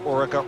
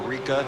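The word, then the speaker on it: Oreca: the French team of Orica or Eureka depending on how you want to pronounce it and in Europe they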